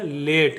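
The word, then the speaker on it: late: यहाँ पर भी वही रूल लगेगा, ठीक है। एल का उच्चारण होगा ल, ए का उच्चारण होगा ए, टी का उच्चारण होगा ट, इसको पढ़ेंगे लेट, इसको पढ़ेंगे लेट, ठीक है।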